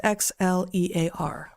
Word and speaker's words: Xlear: That's X-L-E-A-R pronounced Xlear.